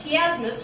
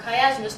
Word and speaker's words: chiasmus: the lines okay so you have this chiasmus or chiasmus depending on how you want to pronounce it and then that's the